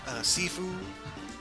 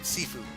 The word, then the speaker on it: Sifu: new God of War, Sifu, not seafood, but Sifu, or is it Sifu? It's spelled S-I-F-U, that one.